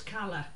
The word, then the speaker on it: Cala: you come from yeah it's a Scottish company mr. bath any other laughs then it's Carla yeah yeah says lady